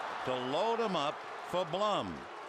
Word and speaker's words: Blum: Blum rhymes with Glum.